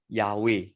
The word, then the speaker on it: Yahweh: they use it they use adonai instead of yahweh all right so um in your notes you